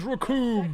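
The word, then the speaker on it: Recoome: vay next it is raccoon it rhymes with doom raccoon versus goku are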